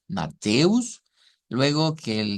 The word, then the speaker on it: Mateus: tenerlo como de referente ya sabemos que matus se pronuncia con una te e verdad con acentuación o con sílaba tónica mateus luego que el s